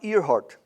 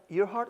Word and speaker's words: Earhart: Amelia Earhart, did I say it right? Earhart or Earhart?